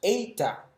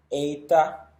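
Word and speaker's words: ἦτα: Luego tenemos eta, que es como un sonido de una E larga combinada con una I, eta.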